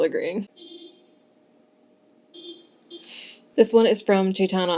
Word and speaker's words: Chaitana: This one is from Chaitana, although the internet said it's pronounced Chetna, so I'm just going based on the spelling I see.